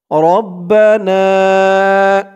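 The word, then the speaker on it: ربنا: রব্বানা, রবা জবর রব, বা জবর বা, রব্বা, রব্বা, নুন আলিফ জবর না, রব্বানা।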